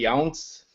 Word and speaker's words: Younse: So my guests today are Tim Leavitt and Ed Robinson and Jodie Younse. Did I pronounce that correctly? Yeah, rhymes with bounce.